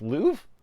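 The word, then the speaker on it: Louvre: that word Lou Museum Lou really it's just Lou okay okay I had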